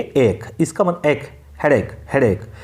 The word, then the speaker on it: ache: ये इरेक आपको दिख रहा होगा लेकिन इसकी प्रोनाउंसिएशन होती है एक.